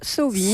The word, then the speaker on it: Samhain: Qui se prononce Sowin, Sowin.